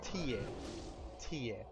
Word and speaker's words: tie: word for their as in physically location-wise is ta ta and spelled TI e it's very similar to